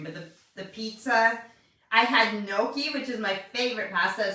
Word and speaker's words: gnocchi: It starts with a G, G-N-O-C-I-H-I, gnocchi, but you pronounce it gnocchi.